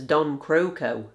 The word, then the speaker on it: Don Croco: Although I might have been mispronouncing it all of this time, because in this game, Hugo pronounces it as Don Croco.